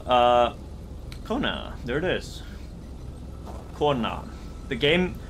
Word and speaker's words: Kona: kona there it is corner the game like the title of this game means woman in icelandic and it's pronounced corn now okay i gotta go